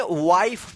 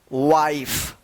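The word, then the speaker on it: wife: तो इसका रूल है कि जब किसी वर्ड के लास्ट में इ रहता है और इ से पहले वाला वोवेल आई रहे तो इस आई का आई उच्चारण होता है।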